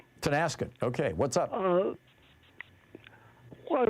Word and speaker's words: Tonasket: Paul in Tonkassett, Washington. Am I saying it right, Paul? Tonasket.